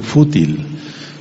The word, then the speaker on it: fútil: hay una palabra que se llama fútil con acento en la u fútil y fútil quiere decir